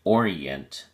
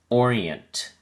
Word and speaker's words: orient: orient has three syllables or e ant and the emphasis is on the first syllable or so we say orient be sure you pronounce the final t sound orient it is used most